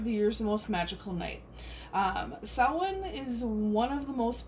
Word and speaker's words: Samhain: Season of the Witch, Samhain Oracle. Sorry, I always want to say Samhain, but it's Samhain.